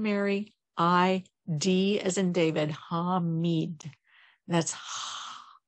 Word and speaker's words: Hamid: And then today we bring in Hamid, and that's spelled H-A-M as in Mary, I-D as in David, Hamid.